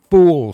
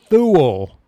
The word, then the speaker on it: Thule: Or was it the Fool Society? Oh, I mispronounced that, didn't I? The Tool Society. What is it? What is the secret society that Hitler belonged to? It is the Thule Society.